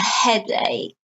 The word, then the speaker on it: headache: Now notice the word headache, the k here, not headache. No, it looks like headache, but no, it's an exception. The ch is spelled k, is pronounced. The ch is pronounced k.